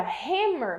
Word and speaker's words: hammer: Mas na palavra hammer, você falou, ó, hammer, hammer.